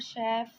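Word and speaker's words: chef: Number C है the word शेफ comes from French. वो यह कह रहे हैं कि वर्ड जो शेफ है वह फ्रेंच से आया है और आप उसको प्रोनाउंस करते हैं एज अ श।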